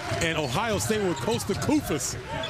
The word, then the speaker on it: Koufos: Texas A&M with DeAndre Jordan and Ohio State with Costa Koufos. Rhymes with doofus, but he doesn't play like one.